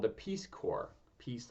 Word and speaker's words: Corps: When I was there, I was working with in what's called the Peace Corps. Peace, like Pyongyang. Corps is a French word. C-O-R-P-S is the spelling, but it's pronounced corps.